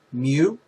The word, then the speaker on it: mu: class instead of using this kind of weird looking u which is actually pronounced mu we used uh x